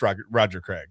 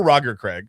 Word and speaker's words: Roger Craig: So I watched Roger Craig or Roger Craig, however you want to say it. It's fine. You can, yeah. Legend says you can pronounce it either way, or Legend says that you can pronounce it either way.